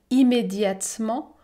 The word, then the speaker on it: immédiatement: » piqué piqué au vif, l'ogre se changea immédiatement, je ne prononce pas la voyelle E, immédiatement, en sourit et se mit à courir sur le plancher.